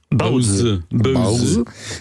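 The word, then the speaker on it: 包子: pains chinois cuits à la vapeur, que l'on prononce donc Baozi, sont des produits qui sont à la mode.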